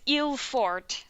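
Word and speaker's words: Yylfordt: to write down the how to pronounce this guy's name it was eel ford right yeah yeah because that wasn't how i was going to pronounce it but i first saw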